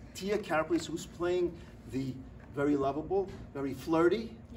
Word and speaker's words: Karaplis: How do you pronounce the last name? I want to get it. Karaplis. We're going to make sure that we get it exactly right. Tia Karaplis, who's playing the very lovable, very flirty, yes, very outgoing, right?